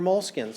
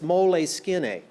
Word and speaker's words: Moleskine: to draw in their moleskins? I think this is really interesting. And also because it's Italian, if you want to pronounce it right, it's moleskine, not moleskin. Moleskine.